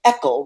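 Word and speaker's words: ECEL: low they have what they call an echo rhymes with freckle and it stands for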